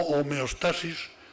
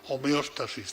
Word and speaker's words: homeostasis: distintas yo le llamo homeostasis lo pronunció de esta forma aunque se puede pronunciar homeostasis también que ir señoras y